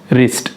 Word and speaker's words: wrist: के आर को डब्ल्यू को हम लोगों ने साइलेंट किए हैं। दूसरी एग्जाम्पल क्या हो सकती है, रिस्ट, WRIST, रिस्ट, रिस्ट यानी कलाई।